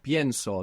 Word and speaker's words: pienso: Pienso. They're the E splits when we stress it.